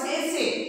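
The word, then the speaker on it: tsetse: There is one fly, a special type of fly called sese. Here T is silent.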